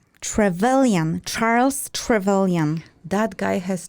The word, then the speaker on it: Trevelyan: I learned to pronounce it, so I will pronounce Trevelyan, Charles Trevelyan.